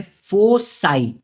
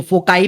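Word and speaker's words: foci: आपको देखो फोकाई भी बोलते हैं कुछ लोग। अभी होता है ना अमेरिकन प्रोनाउंसिएशन ब्रिटिश प्रोनंसिएशन ऐसा अलग-अलग होता है। लेकिन आप इसको कैसे भी बोलो फोसाई बोलो या फोकाई बोलो आपकी मर्जी है ना?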